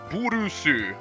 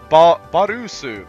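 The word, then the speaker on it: ボールス: The thing about balls, or boars, as his real name is, it's pronounced burusu in Japanese, but he mistranslated it to Barusu.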